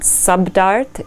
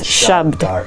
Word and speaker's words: shabd: Just remember it's not subdart, it's shabd.